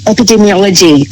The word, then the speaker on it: epidemiology: Now, I called you an epidermiologist. Is is dermy and uh dei different or I just said it wrong. It's epidemics. Epidemiology. So, we're looking at things